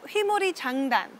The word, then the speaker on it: Hwimori Jangdan: that we're about to learn today, the rhythm Hwimori Jangdan. Did I pronounce that okay?